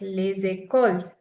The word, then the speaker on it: les écoles: Les écoles.